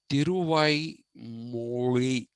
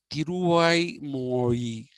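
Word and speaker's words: Tiruvaimozhi: The first of this works is called Tiruvai Moli. Mozhi is not pronounced Moli, but it is pronounced Mori. So it was Tiruvai Mori that uh, is the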